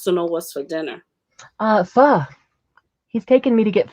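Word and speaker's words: phở: It's a Vietnamese soup, and this is how you say it, pho.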